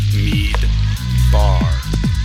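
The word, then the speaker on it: מדבר: An example of this is this word, which is midbar, meaning desert.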